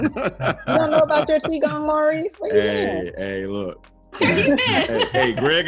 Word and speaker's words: Qigong: I might be biased as a yoga and Qigong instructor.